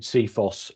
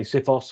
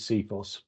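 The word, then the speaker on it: CFIHOS: Handover specification and then when we tend to pronounce it seos uh there's lots of people some people will say sephos and other other pronunciations but but the term we use is seos and our main purpose is um is to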